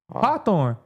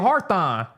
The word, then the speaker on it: Hawthorne: No, There's no R. Y adding a syllable. Y'all adding Well, adding a sound, not a syllable. Y'all added the heart. letter. It's ha hawthornne and y'all saying hearthon.